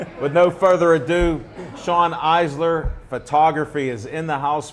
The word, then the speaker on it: Eisler: The E's silent, so people usually Okay.